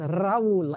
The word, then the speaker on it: Raul: I love his name because you can roll your R. Yes, Raul.